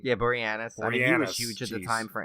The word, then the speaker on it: Boreanaz: deadly horror on say his name again David Boren Orion yeah Boreanaz she's just a time for angel I know